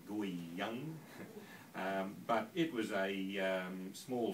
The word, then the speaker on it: Guiyang: Well, I went to a place called Guiyang in China. I apologise to the Chinese people because I generally pronounce that wrong. I think it's more like Guiyang.